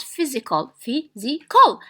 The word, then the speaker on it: physical: Okay, so we count physical. So physical. 1, 2, 3. So it is stressed in the first syllable.